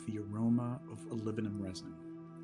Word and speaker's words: olibanum: Now, some people say olibanum, which, you know, it's not technically the way to pronounce it, but I don't want to offend people who choose to pronounce it that way, you know, whatever floats your boat.